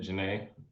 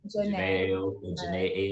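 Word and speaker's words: Jhené: Janae you know Gene how do you say it yeah you said it Janae Janae okay okay yes yes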